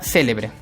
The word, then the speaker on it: célebre: ir en la antepenúltima tenemos la palabra célebre separamos sílaba de l'ebre cuál es la sílaba que lleva la mayor fuerza de voz profesor el aquí lleva tilde muy bien entonces esa va a ser una palabra esdrújula siguiente bolígrafo separó en